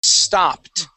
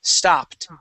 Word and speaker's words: stopped: one is stopped okay if it ends with a p okay the word stop stop okay and you add an ed to the end that Ed is going to sound like a t the word is stopped try that St stopped